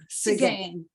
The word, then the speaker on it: Seguin: It's a Seguin loom. Seguin. Yeah, or Seguin, as we pronounce it down here.